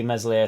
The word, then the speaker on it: Meslier: I can sort of see Meslier, Silent S being one of the only big players that sort of stays.